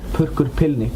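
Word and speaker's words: Purrkur Pillnikk: How do you pronounce that? Perk Pilnik.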